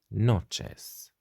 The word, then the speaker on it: noches: say buenas noches buenas noches noches what you could see is that we have got ch which is pronounced like in english when we say for example children child so buenos noches this